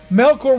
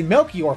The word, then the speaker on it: Melkor: is still being bad Melkor will always be badness yes remember that no core is bad I said it right I said right twice alright I didn't say Melchior for once so with that we're